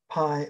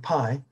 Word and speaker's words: pi: me it's pronounced p that's the way the greeks did but anyway pi uh you know that